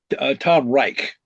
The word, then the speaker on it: Reich: Tom Reich. right? And Reich, Rich, or R. I'm sorry, yes, R Like the third E rate, I. Reich, R-E-I-C-H, or what? Yes, it's like the Third Reich, Tom Reich.